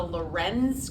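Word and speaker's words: Lorenz: be tested on and the first is the Loren's curve l o r n z and the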